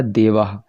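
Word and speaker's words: देवाः: यहाँ पर देख लीजिए, यहाँ पर विसर्गों का होकार लिखा है, हकार का सादृश्य उच्चारण यहाँ पर केवल उच्चारण की दृष्टि से लिखा है ये। तो देखिए यहाँ पर क्या है, ये शब्द लिखा है आपका देवाह।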